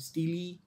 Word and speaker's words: stele: Some people call it stele, some people call it stele. It's actually stele only. STEEL जो होता है वही same pronunciation वही है।